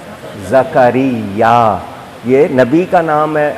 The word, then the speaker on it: زکریا: حضرت زکریا علیہ السلام، آپ زکریہ کہتے ہیں، قرآن نے جو لفظ بتا دیے ان کا ہم کو تلفظ، پروناؤنسیشن نہیں بدلنا چاہیے۔ لفظ کیا ہے؟ زکریا۔ یہ نبی کا نام